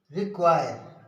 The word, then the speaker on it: require: Rule number 4 है, क्यू का उच्चारण क्वा होता है। जब किसी शब्द के बीच में क्यू यू आए या प्रयोग हो तो क्यू का उच्चारण क्वा पढ़ा जाता है। जब किसी शब्द के बीच में क्यू यू आए या हो तो क्यू का उच्चारण क्वा पढ़ा जाता है। जैसे एग्जाम्पल देखिए, रिक्वायर, REQUIRE, रिक्वायर।